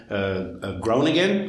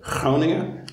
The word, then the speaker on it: Groningen: you've already seen about grown-again or hronia as they say here in the netherlands don't worry about pronunciation